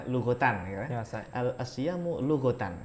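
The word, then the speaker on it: لغةً: makanya biasanya bacanya lugotan ya.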